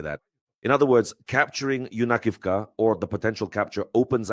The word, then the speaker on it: Yunakivka: Village Yunakivka, or Yunakivka as the locals say in the Sumy region.